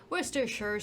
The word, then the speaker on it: Worcestershire: fluid had Worcester social Worcestershire how do you pronounce worcestershire Worcestershire sauce in which he turned him into a